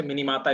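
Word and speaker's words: Minamata: तो भाई देखा गया, तो उसको कहा गया क्या, क्या बोलते हैं उसको, हम लोग मिनीमाटा डिजीज कहते हैं इसको, चाहे मिनीमाटा, वैसे मिनीमाता इसको वो बोलते हैं, प्रोनाउंसिएट करते हैं, तो उसको बोला गया मिनीमाटा डिजीज।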